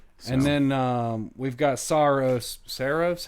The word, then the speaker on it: Saros: And then um we've got Soros. SOS. How do you say it? Is it? Uh I think everybody's been saying Saros, but I'm pretty sure the developers are calling it Soros.